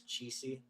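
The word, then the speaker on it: Chiesi: how you said I actually looked at Google pronounce it for me it's cheesy it's a Italian based company so cheesy Global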